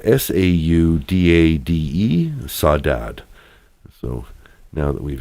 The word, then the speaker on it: saudade: It's spelled S-A-U-D-A-D-E, saudade.